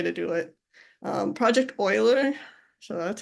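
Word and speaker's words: Euler: be the way to do it um project Oiler so that's how it's pronounced it's not eer it's actually pronounced Oiler this has been around a very long time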